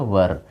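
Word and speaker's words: were: अच्छा एक बात और बच्चों, इसको वाज कभी मत प्रोनाउंसिएशन इसका वाज मत करना, या फिर ये वेयर जो रहा, ये इसको वेयर बोलते हैं लोग, इसको वेयर नहीं करना, इसको वाज नहीं करना, इसको बोलना है वज और इसको बोलना है वर, ना कि वेयर और वाज।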